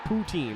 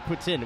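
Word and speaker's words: poutine: all Canadian Cuisine and they do not pronounce it poutin they pronounce it Putin which is a incredibly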